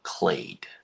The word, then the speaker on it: Clade: So yes, cl a de uh caid is the proper pronunciation.